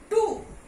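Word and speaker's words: two: Whoever, whoever, टू, डब्ल्यू is silent.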